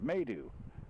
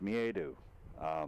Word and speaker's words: miedo: in there trying to it's pronounced may do made oh no it's me a do that's coming right from